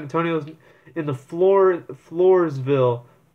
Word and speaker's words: Floresville: in the floor the Floresville Flores I think that's how you pronounce it it's a Spanish name Flores ville southeast of San Antonio